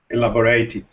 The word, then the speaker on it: elaborate: like a verb so remember that as a verb please would you elaborate but as an adjective how should you pronounce it elaborate elaborate actually when we pronounce this word elaborate elaborate repairs so remember that the adjectives don't sound the same so elaborate repairs but